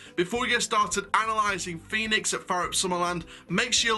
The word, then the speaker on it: Fønix: This is F, the O with the line through it, N-I-X, but it's, of course, it's Fønix in Danish.